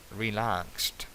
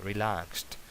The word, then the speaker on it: relaxed: Relaxed, relajado. Ahí no se pronuncia la ed. Relaxed.